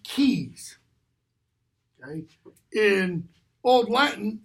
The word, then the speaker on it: Caius: Kent disguises keys that CAI u.s. in British English that's pronounced keys in all blanton its